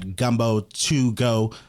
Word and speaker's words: Geaux: You can follow us at Gumbo2Go, the number 2, and it's spelled Geaux, the Cajun way.